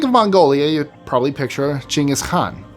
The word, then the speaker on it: Genghis Khan: Oh, and a quick side note, for those of you wondering why I'm saying Genghis Khan instead of Genghis Khan, he was Mongolian. That's how it's pronounced in Mongolian, so there you go.